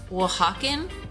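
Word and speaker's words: Oaxacan: like a kind of chipotle sauce cuz they're W hawen they're wwen it's w Hawkin style which is spelled like it looks like aoxin for those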